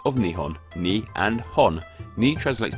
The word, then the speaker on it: Nihon: For the rest of this video, I will be using Nihon. These two kanji characters break down to the two syllables of Nihon.